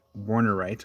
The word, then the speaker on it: Warnerite: So we have the Franklinite and Warnerite, or as Rocky Mountain Bear said, the W is pronounced as a V in Deutschland. So Warnerite, yeah.